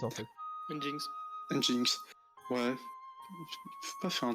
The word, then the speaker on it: Nginx: Je ne sais pas prononcer ça. C'est Nginx, non? C'est Nginx en fait. Nginx.